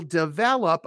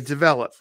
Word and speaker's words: develop: The stress is on the second syllable. Develop. So I will develop a program just for you.